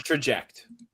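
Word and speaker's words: Trajekt: It's with a K. It's Traject. Traject machine, and will advance to live at bats soon. I thought Joe had a problem with pronunciations. Yankees. It's not even spelled right. That's not Traject. There's a fucking K in there, you piece of shit.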